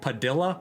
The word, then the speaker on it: Padilla: Like one of our viewers, Ethan Padilla, his last name, it's like literally spelled like Padilla, but yeah, you know, the L's are silent.